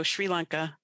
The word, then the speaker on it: Sri Lanka: And that's really neat hearing from someone in Sri Lanka. Is that, I pronounce that right? No, Sri Lanka.